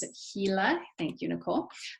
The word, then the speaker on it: Gila: In your county, it's about, I just learned how to pronounce it, Gila.